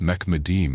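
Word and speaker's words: מחמדים: Finally, in verse 16, Solomon says his beloved friend is altogether Muhammadim, pronounced Mekmadim in Hebrew, with the trilateral root hmd.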